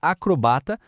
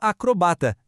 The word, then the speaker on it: acrobata: Por exemplo, tanto faz dizer acrobata ou acrobata ou xerox e xerox. As duas formas são válidas.